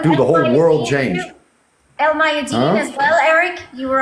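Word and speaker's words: Al Mayadeen: But El Mayadeen, excuse me, no, I don't. I talked to Nader on how to pronunciate it, and that's how he said to do it.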